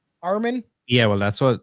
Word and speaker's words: Armin: That's how you pronounce it, Aaron? Armin.